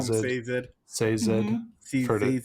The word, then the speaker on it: Sazed: Sazed. I call him Sazed. Sazed. I've heard it Sazed.